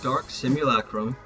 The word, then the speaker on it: Dark Simulacrum: or increase taste if the target dies early dark simulacrum yes that's how you say it is a great spell that people forget place it on an enemy